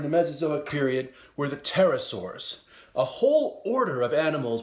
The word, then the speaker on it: pterosaurs: Mesozoic period where the pterosaurs a whole order of animals with broad wings and creative pronunciation for the letter P the Pteranodon had a